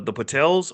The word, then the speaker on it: Patel: Um and the Patels own a lot of hotels. So it's funny that Patel almost rhymes with hotel, right?